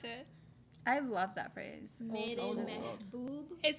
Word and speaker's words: Mehboob: What does Mehboob mean?